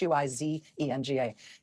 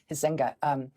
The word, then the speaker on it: Huizenga: It's Huizenga, Huizenga.